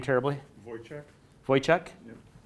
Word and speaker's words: Wojcik: Wojciech? Wojciech? Yep. The W is like a V.